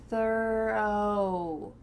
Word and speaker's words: thorough: Thorough. The first section sounds like thur, like an E. Thur. And then the final part is going to sound like thorough. O-W. Thorough.